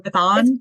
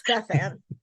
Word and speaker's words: Bethann: friend okay and do we do we pronounce it bethan or bethon or bethon that's a fancy way of say it no it's bethan um so wait you guys aren't married no